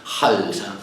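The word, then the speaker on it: Khalsa: Esta sí que va con una KH a lo árabe, se pronuncia Halsa.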